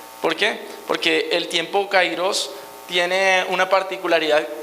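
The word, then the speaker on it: kairos: muchas veces hay un tiempo cairos verdad o cairos que debería ser la la correcta pronunciación representa un lapso un lapso indeterminado en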